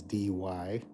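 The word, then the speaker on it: Dee Why: It goes North Curl Curl to the west Wingala and just north of Wingala is DY, spelled d e e space w h y.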